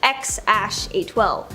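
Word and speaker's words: X Æ A-Xii: Okay, so we all know their first kid's name is X something, or apparently it's pronounced X-A12.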